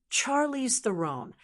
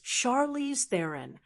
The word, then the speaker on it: Charlize Theron: Charize the most people say Charize the or even Charlie's The Ron. But here's how it's actually pronounced. According to Charize herself, the correct pronunciation is Charize theirin, almost like therein or throne with a soft N.